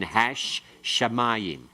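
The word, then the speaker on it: השמים: It has a hay with a pathic and a dogish in the sheen, hash shamayim, the heavens.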